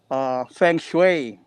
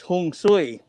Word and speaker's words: feng shui: dialect no in china in mandarin it's uh feng shui no okay in hokkien it's hong sui in tagalog it's pun sui in korea it's pun